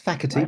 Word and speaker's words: Facherty: bti bti is that how you pronounce it why not it's faky but close enough FY soorry faky and today